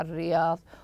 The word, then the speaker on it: الرياض: الكلام تقع الرياض هنا عند وصل الكلام تسقط هنا الالف الوصل واللام لانها لام شمسيه تكتب ولا تنطق فهي هنا تسقط تقع الرياض وسط الصحراء نلاحظ انها